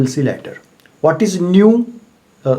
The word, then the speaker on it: nu: What is nu? The pronunciation is nu.